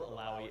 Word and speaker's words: Illaoi: We revealed Illaoi in our Okay, last August.